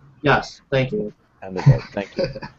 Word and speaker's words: Handarbeit: You mean Handarbeit? Yes, thank you. Handarbeit, thank you.